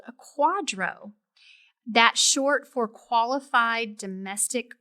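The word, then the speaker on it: QDRO: you could also Al obtain what's called a Quadro that short for qualified Domestic Relations order and of course the acronym is QD o but it's pronounced Quadro so you may be eligible for part of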